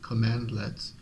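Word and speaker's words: cmdlet: Combine that with plethora of built-in and third-party commandlets, pronounced commandlet, that can be filtered, sorted, and piped together, and you have the ultimate acquisition engine.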